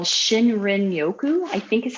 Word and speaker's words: shinrin-yoku: I don't know if you guys have heard about forest bathing, but there's a term in Japanese for forest bathing called Shinrin-yoku, I think is how you say it.